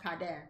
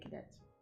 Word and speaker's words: Cadet: Haitian last name Everette haian pronounced CAD but if you're American you say Cadet like the military Cadet what's with all these